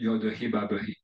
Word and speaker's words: YHWH: YHWH 히브리어로 여드헤바브헤 발음해야 하고요.